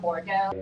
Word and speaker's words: Bordeaux: Bordeaux, it rhymes with Shoto, so if you can say Shoto, you can say Bordeaux.